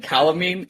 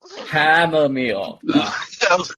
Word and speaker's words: chamomile: And calamine, did I say that right? Did I say calamine? Calamine? How do you say it? Chamomile? Chamomile.